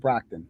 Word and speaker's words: Brockton: that was good okay stocking is the only thing that rhymes with brockton it's the only thing